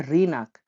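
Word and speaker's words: рынок: বাজারকে বলা হয় রিনাক। দেখুন রিনাক, ইংরেজিতে লেখা আছে রি নাক, রিনাক, রিনাক মানে হলো দোকান, রিনাক মানে দোকান।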